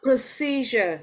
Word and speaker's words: procedure: yeah hi so what procedure so the stress is on the second one pro procedure what does it mean